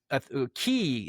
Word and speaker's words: Ki: Ki is how it's pronounced in Oh, Japan, or okay.